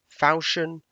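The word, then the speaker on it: falchion: in case you're wondering yes it is actually pronounced fashion because it's a French word we can get into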